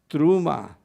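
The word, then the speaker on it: T'rumah: our our Ulan class you see that this is a Tav with a a a shuk a me with a kamat and a final hey and so this is pronounced truma and it means offering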